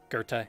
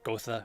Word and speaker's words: Goethe: 2:53, Goethe is pronounced like Goethe, not Gotha or Goth, despite how it looks. Blame German.